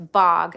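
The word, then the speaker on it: Bogge: Sorry, the bog. I think it's pronounced bog.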